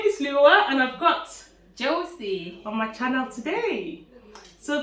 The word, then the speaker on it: Joecy: Joecy. Joecy. Yes. Yes, it's a very unique name. I don't think I've met anybody who And has it's that name. simple, just 2 syllables.